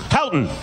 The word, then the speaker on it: Houghton: Houghton.